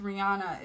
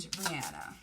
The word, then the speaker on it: Rihanna: on between jen and rihanna you see how i'm saying rihanna and not rihanna because that's how she's that's her heart that's her name is supposed to be um pronounced guys all right what's